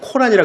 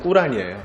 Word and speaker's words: 꾸란: 우리나라는 주로 코란이라 그러는데 그 사람들 발음으로는 꾸란이에요.